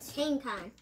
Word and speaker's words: Kangaskhan: Let me know I'm pronouncing it wrong. I'm not. Kangaskhan.